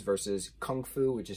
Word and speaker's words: kung fu: i didn't know that gunk foo was the pronunciation within cantonese chinese versus kung fu which is how we